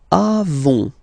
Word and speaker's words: avons: Then nous avons, final S not pronounced, avons.